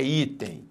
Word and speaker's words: item: Qual é a sílaba tônica em item? É item ou é item? É item.